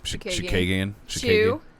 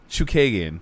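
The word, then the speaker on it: Chookagian: Shakagian. Chew, like Chewy. Yeah. Chukagian.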